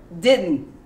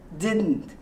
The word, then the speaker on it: didn't: from here when we mispronounce it and it's pronounced then didn't didn't your tongue goes up on the unn didn't